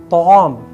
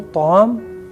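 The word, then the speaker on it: طعام: So ta'am, here you have to remember this word ta'am, ta'am with correct pronunciation. Ta, ain, alif, mim.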